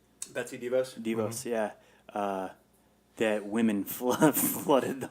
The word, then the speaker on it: DeVos: I did find a couple that say, especially when, how do you pronounce her name? Devos? Betsy DeVos?